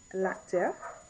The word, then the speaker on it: acteur: you're a male actor, it's l'acteur, l'acteur, l'acteur, l'acteur. Two syllables. L'acteur, l'acteur.